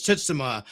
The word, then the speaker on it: Tsushima: Actually, it's Tsushima. We interviewed the actor, and he told us that is how it's pronounced.